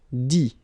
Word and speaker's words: dit: Dit. Okay, phonetically, same thing here. You don't pronounce the final T.